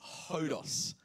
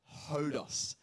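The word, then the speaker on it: ὁδός: that wasn't even intentional the correct pronunciation of this word is hodos hodos so why don't you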